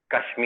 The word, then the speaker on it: Kashmir: Kashmir. Oh, okay. Okay. Kashmir. So the R, the Kashmir. R pronounce.